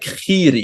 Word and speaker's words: Giri: name though but like in Dutch his name would be pronounced not like giri but more like Kiri you know like a